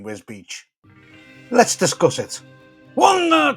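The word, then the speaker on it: Wisbech: really don't want apparently the town's name is one of the most mispronounced names in the UK today we are in wisbeck sorry I mean whiz Beach let's discuss it one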